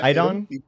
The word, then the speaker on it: Iddon: Yeah, Iddon? Iddon. Yeah. All right, so awesome. many people pronounce that incorrectly.